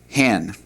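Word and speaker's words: הן: All right, and then the plural for that is hin, hin. For they feminine, you're talking about a group of women, the word would be pronounced hen.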